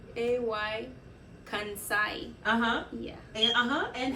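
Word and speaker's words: Kansaye: what I can say I've never heard somebody pronounce it because I like them how do you say it it's not it's a it is a-y-e right a-y Kansai yeah and how you said it k-a-n-s-a-y-e and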